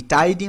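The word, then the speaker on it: tidy: হচ্ছে শি ইজ টাইডি টাইডি মানে এই জায়গায় এই প্রোনাউন্সিয়েশনটা অনেকে টিডি বলে এটা টিডি না হবে টাইডি পরিচ্ছন্ন মানুষ শি ইজ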